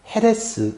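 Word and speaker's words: חרס: 그런데이 글자가 굉장히 오묘합니다이 멸망과 태양 히브리어로 발음이 똑같습니다 헤레스 이렇게 발음하는데 그런데 멸망에 쓰는이 해자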